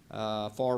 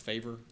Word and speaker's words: Favre: Would expand down beyond Lafitte Street all the way towards, is that pronounced Favor? Favre. It is Favre?